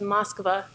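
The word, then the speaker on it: Москва: which you can see it says miskova which is how you say Moscow in Russian here's another beautiful metro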